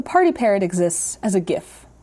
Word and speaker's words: GIF: parrot exists as a gif with a hard g i traveled to the